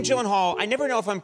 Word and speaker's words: Gyllenhaal: name is it not it is a Swedish name so shouldn't it be like oh my God I have and all the only two places that that is pronounced correctly my last name like you did just now is in Sweden uhuh and in Ikea Ikea so who is Jake